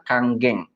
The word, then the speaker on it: Kangen: biasanya memangnya masih kangen Jadi sebenarnya ini dibacanya adalah Kang geng ya ya kita udah